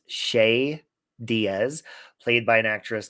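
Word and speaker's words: Che Diaz: and her boss um i believe the character's name is pronounced shay diaz played by an actress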